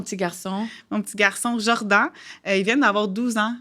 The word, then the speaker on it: Jordan: Donc, j'ai voulu donner le nom Jordan comme pour le joueur Michael Jordan, que j'adore.